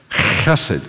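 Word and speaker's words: hesed: chested to his sheep if the word hasid is new to you I'd like you to learn how to say it it's the word translated Mercy kindness I was learned to translate it as loyal love so the H is a roughage hate cusset can you say that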